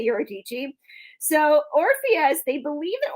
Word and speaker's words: Eurydice: his lover Eurydice, which there's a few different ways to say her name and I liked Eurydice's best. Eurydice is how some people say it. I feel like Eurydice is way more fun to say.